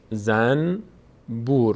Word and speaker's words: زنبور: از نون ب بیاد در فارسی هم به خاطر اینکه راحت‌تر تلفظ بشه نون رو تبدیل به میم می‌کنیم بعد تلفظ می‌کنیم مثلاً